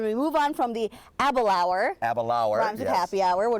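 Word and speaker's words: Aberlour: be sampling tonight is a Balaur and it rhymes with happy hour yes it totally mispronounced but a Balaur is what we call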